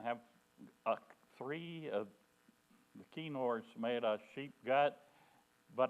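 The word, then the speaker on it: kinnor: k i n n o R and it's pronounced kenor it's a 10 string instrument and it's um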